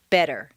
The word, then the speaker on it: better: Just as you don't say the T in listen, the double T in better is pronounced D, better.